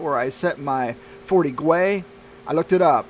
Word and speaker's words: Gwei: I'm going to finally get my Ethermine payout where I set my 40 Gwei. I looked it up. They say pronounce it as Gwei.